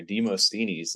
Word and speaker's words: Demosthenes: But yeah, for all the Greek listeners out there, Demosthenes is how you pronounce that if you got a little bit of Greek in you.